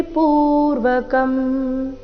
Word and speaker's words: ಪೂರ್ವಕಂ: ಮಹಾಪ್ರಾಣ ರಸ್ವ ಭಜತಾಂ ಪ್ರೀತಿ ಪೂರ್ವಕಂ ಪ್ರೀತಿ ಪ್ರೀ ದೀರ್ಘ ಪೂರ್ವಕಂ ಪು ದೀರ್ಘ ಭಜತಾಂ ಪ್ರೀತಿ ಪೂರ್ವಕಂ ದಾಮಿ